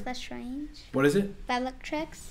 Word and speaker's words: Bellatrix: the trick is that strange what is it bellatrix bellatrix is that how you say it mm-hmm cool